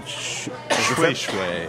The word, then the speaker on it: Shweshwe: So there's the fabric called Shweshwe. Shweshwe. It's, And that's pronounced. it's spelled like shushu, But that's pronounced but it's Shweshwe.